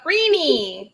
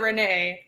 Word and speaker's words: Renie: is it pronounced renee or renee draws uh rini rini most people pronounce it renee i'm used to it right now yeah i